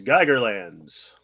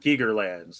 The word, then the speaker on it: Geigerlands: special um wow yes geigerlands not gigger lands like the artist but geiger like the counter okay so you guys